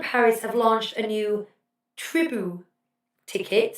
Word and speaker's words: Tribu: Disneyland Paris have launched a new Tribu ticket, spelled Tribu. Tell me if I'm spelling that, pronouncing that wrong. Tribute, without the T.